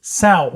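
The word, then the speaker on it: sow: Sao. Sao. I think I was saying so, so I apologize.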